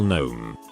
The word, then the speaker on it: gnome: it me i believe gnome spelled wrong there isn't a k her it's silent me no i mean it's a g and the g is silent her who's the teacher